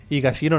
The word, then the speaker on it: Higashino: idea, siempre me dice, Higashino no, se pronuncia la H, Albert.